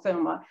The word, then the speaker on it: Xuma: name is Maddie Hall Zuma so the way she pronounces it of course is not the way it would be pronounced in South Africa I'm well aware that